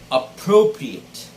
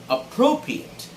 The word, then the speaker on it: appropriate: is this word and it is pronounced appropriate appropriate the stress should be on the second syllable pro okay it's not appropriate